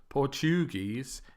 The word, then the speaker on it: Portuguese: and also the language of Brazil the language of Portugal Portuguese again it's not Portuguese or Portuguese it's Portuguese okay this is syllable stress